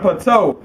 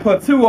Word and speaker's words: plateau: Well, y'all call it plateau, but we pronounce it plateau over here, goddamn.